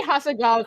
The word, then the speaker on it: Hasegawa: The heckin' Zenkichi Hasegawa. They said they say Hasegawa correctly, which is the real question mark there.